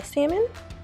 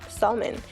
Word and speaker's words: salmon: So I'm going to start by seasoning my salmon, or some like to say salmon. These are very happy people who pronounces L and salmon.